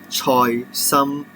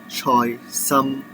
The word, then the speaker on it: choy sum: It is choy sum, and the Chinese name is quite similar to the English name. It is pronounced that choy sum, choy sum.